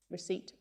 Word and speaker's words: receipt: I'll give you 10 seconds to think about how to pronounce this word. All right. That's shall we watch this clip? Receipt.